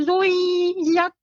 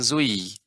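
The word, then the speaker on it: زُوِّجَتْ: Wa idzan nufusu zuwijat. Bukan zui. Wi. Tasydid pada waw Ibu. Wa idzan nufusu zuwijat. Dengan cara ditekankan ke waw, dimasukkan ke waw.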